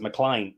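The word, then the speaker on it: MacLean: hard but this is it's actually McLean but they pronounce it mlan and I thought I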